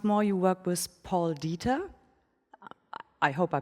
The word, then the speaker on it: Dieter: So once more, you work with Paul Dieter. I hope I pronounced that right. It sounds so German. Dieter, oh yeah.